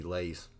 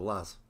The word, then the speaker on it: Laz: It's like when Lee calls me Lays instead of Laz for the abbreviation of Lazy, not realizing that it comes from Lazarus.